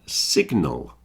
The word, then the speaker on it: signal: a pronunciation thing but we've got sign and Signal you notice the G is pronounced in signal but not in sign the difference I think